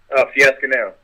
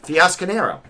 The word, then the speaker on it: Fiasconaro: Fiasconaro. Oh, all right. So you say it like it's spelled Fiasconaro. Exactly. Yep. Is that Italian? Yeah, it's Italian, yes.